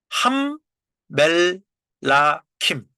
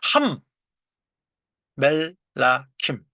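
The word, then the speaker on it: המלכים: 함 멜라킴 그죠? 함. 예. 첫음절은 다친 음절이기 때문에 쇼화가 발음되지 않죠. 그래서 함 멜라킴.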